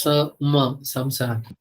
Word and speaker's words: samsara: First of all, some pronounce it as na. Actually, it is samsara.